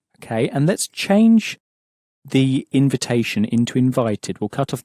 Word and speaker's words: invitation: Let's look again at the word invitation, which was a little bit trickier to pronounce because the in at the beginning has that sort of sulky teenager sound that's pronounced. Un.